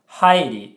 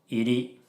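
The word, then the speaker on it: 入り: So, she mispronounced it. It's hairi, but she said iri.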